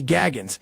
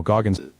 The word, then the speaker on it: Goggins: First thing, Joe, stop calling me Gaggins. Gaggins. No, Goggins. Come on. Gaggins sounds kind of right. It does not sound right. Feels right. It rolls off the tongue. It rolls off the tongue because you're saying it wrong.